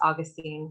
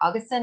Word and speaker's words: Augustine: I think it's Augustine I learned recently that I was I've pronounced Augustine incorrectly my entire life and so now I'm like trying to remove I think like Augustine is the correct way and forgive me if